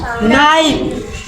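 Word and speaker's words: knife: D silent के एन आई ए का पड़ी नाइफ नाइफ मतलब का चाकू के साइलेंट डब्ल्यू ए एल के वॉल वॉक डब्ल्यू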